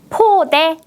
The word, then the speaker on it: 포대: 포대, 몇 번이에요? 네, 맞습니다. 2번 포대였습니다. 첫 번째 음절을 발음할 때 바람을 많이 내보냈어요. 포대.